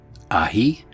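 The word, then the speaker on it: ahí: Ahi, which is pronounced ahi, is demonstrative and means there, as if pointing to a thing or place.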